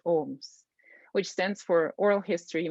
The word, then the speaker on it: OHMS: university of kentucky libraries called ohms pronounced ohms which stands for oral